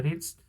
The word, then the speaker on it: reached: Itu bacanya reached ya. Bukan ed-nya nggak usah dibaca ya, reached.